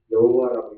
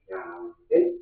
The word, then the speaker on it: 야훼: 야훼. 하나님의 이름이 뭐라고요? 야훼 하나님. 야훼 하나님. 그게 번역이 이렇게 다른 나라 통해서 한국으로 왔는데 여호와라고 읽기도 많이 하죠. 그렇죠? 원래 여호와라고 읽는 것보다 야훼 하나님이 맞습니다.